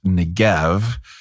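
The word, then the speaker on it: Negev: you um it's also more commonly spelled and pronounced ngev uh so that's like if you're looking this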